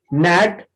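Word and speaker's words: knit: निट, निट माने बिनना होता है, के साइलेंट है क्योंकि एन आया है, और इसमें देखो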